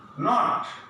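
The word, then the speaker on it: note: শেষে ই থাকলে হবে নট, এটা উচ্চারণ হবে যে চাপা হয়ে যাবে, একটু ন্যারো হয়ে যাবে, মানে ন্যারো হয়ে নোট, এরকম।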